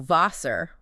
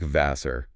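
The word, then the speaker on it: Wasser: The German W, which is pronounced V, actually sounds like an English V. So Vasser, water, sounds like Vasser.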